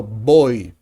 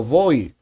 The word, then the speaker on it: voy: of Latin American countries, the V and the B sound the same. We say yo voy. And I can say yo voy.